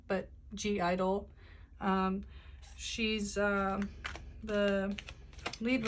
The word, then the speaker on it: (G)I-DLE: reading on soyun from yoja idol i believe is how you say the name but g idol um she's um the